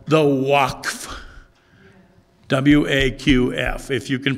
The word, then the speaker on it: Waqf: W-A-Q-F. If you can pronounce it better, tell me, all right.